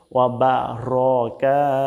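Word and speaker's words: وَبَرَكَاتُهُ: এখানে রা বলে থাকি, কিন্তু রা কিন্তু সঠিক উচ্চারণ না, বলতে হবে ওয়া বারাকাতুহু। এখানে রর উচ্চারণটা আনতে হবে ওয়া বারাকাতুহু।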